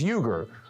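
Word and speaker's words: Uygur: Second name, surname is Uger.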